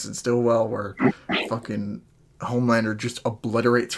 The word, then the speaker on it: Stillwell: And also, what came out of left field was Homelander actually killing How do you pronounce her name? Sitwell? Stillwell.